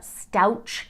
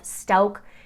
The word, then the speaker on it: Stouck: It was bad enough that her own lawyers in Letitia Stouck's case kept calling her Letitia Stouch instead of the correct pronunciation of Stouck.